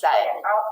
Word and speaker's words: said: Said has three sounds, s and d. The first sound, s, is spelled with the letter S. The last sound, d, is spelled with the letter D. We can read these parts using our phonics knowledge. The middle sound, eh, short E, is spelled with the letters AI.